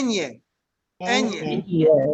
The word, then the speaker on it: ñ: This is a very Spanish letter. You'll all recognize this one. Ñ, Ñ. Ñ. Yep, Ñ. Okay, Ñ. Like in the phrase hasta mañana, right?